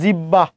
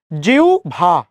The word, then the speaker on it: জিহ্বা: আর যেমন বলেছেন জিব্বা, জিবলা, কত কিছু বলছেন, কিন্তু এটা উচ্চারণ জিবলা, জিব্বা কোনোটাই নয়, উচ্চারণ কি জিউ ভা, জিউ ভা, বিউ ভল।